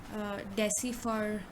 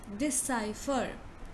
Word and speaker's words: decipher: will pronounce it as decipher or something like this, but the correct pronunciation of this word is decipher, decipher. So you say di first, then you say sigh, then you say fur, decipher, decipher, decipher, right?